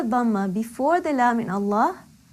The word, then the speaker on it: Allah: When we have Allah, if there is fatha or dhamma before the lam in Allah, Allah will be pronounced with a full mouth, heavily.